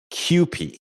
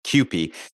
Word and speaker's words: Kewpie: It is pronounced Kewpie, even though it's P-I-E, Kewpie.